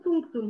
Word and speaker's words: punctum: İşte bu punktum hocam. Hemen kitabı da chat'e yazıyorum. Buyurun hocam. Teşekkür ediyorum. Ptum veya punktum.